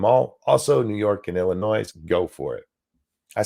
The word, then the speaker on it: Illinois: out of me it's Illinois you don't pronounce the s you learn that if